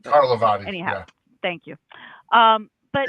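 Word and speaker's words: Carlivati: Ron Carvalati's stuff is basically done. I mispronounced his name. Carlavati.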